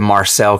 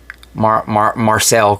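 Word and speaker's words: Marseille: Everywhere else, apparently, this is called the Marcel Contract. Or Marcel Contract. I believe that's how it's said.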